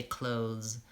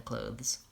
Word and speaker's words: clothes: clothes yes for clothes you can leave that th out and just say clothes clothes rather than clothes yeah okay so that's